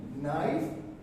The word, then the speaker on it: knife: Knowledge, knee, knife, K is silent, right?